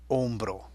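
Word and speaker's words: hombro: you know el hombre it starts with a silent letter L on bro and there it is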